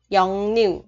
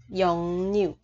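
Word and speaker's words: 역류: Thì cái chữ cờ này đọc là ngờ, còn chữ r này sẽ đọc là n. Dòng niu, 영류, 네.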